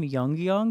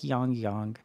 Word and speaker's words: Yangyang: them eventually um he I pronounced his name wrong in my last reaction I kept calling him y Yong but it's like yongyong um I believe see